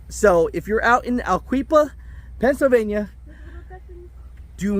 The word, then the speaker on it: Aliquippa: don't laugh at me I looked up how to say it is that aliquifa is Aliquippa and and uh pretty much